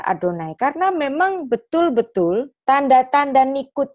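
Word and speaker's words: אֲדֹנָי: Yang di sini ditulisnya Yehovah tapi bacanya Adonai. Kenapa kok ditulis Yehovah tapi dibaca Adonai?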